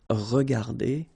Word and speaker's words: regardées: Remember that we don't pronounce them, so you will get phonetically regarder and then here the same form regarder.